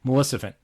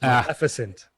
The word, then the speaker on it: Maleficent: Maleficent. I said it wrong again. You said it wrong again. It's Maleficent.